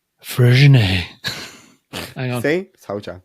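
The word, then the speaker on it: Freixenet: Freshenet is pronounced as fresh net in English. Fresh Spanish net. and Catalan it sounds more like fresh net with a soft T at the end.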